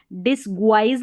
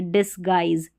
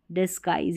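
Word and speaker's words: disguise: और इसका यूज़ होता है, ये वर्ड आपको मिलेगा, यानी भेष बदलना, तो इसको पढ़ेंगे डिसगुआइज नहीं पढ़ेंगे, डिसगाइज, डिसगाइज। यहाँ पर उच्चारण दिया गया, इसको देखकर प्रैक्टिस कर ले, याद नहीं करना है, प्रैक्टिस करना है।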